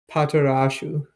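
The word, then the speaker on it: パトラッシュ: I found the Romanji for how it's pronounced. What is it? We'll never say it like this. Patarashu. Patarashu. It's Patrash.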